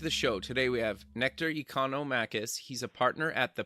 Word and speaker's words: Nectarios Economakis: welcome back to the show today we have nectar economicus he's a partner at the PNR nectar welcome to the show Devin thanks for pronouncing my name crest this this was the